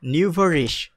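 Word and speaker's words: nouveau riche: the phrase, এটা হলো একটু কঠিন উচ্চারণ, নিউভারিশ, নিউভারিশ, এটা রিচ উচ্চারণ না হয়ে রিশ হবে, আর এটা নিউভারিশ, এটা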